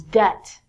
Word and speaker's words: debt: to give people money so it's not debit like debit card is debt next one is doubt